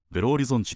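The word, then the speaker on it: Belo Horizonte: 考える街はブラジルベロオリゾンテブラジルの大都市サンパウロやリオデジャネイロとトライアングルを形成するとベロオリゾンテポルトガル語ではベロオリゾンチと発音しますがここでは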